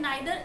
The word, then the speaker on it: neither: आइदर और नाइदर को हम ईदर और नीदर भी प्रोनाउंस करते हैं, दोनों ही प्रोनाउंसिएशन करेक्ट है। मतलब आप आइदर या नाइदर प्रोनाउंस कर सकते हैं या ईदर और नीदर भी बोल सकते हैं।